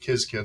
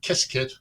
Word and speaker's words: Qiskit: it's pronounced different ways I pronounce it kis kit some people pronounce it kiss kit whatever it is um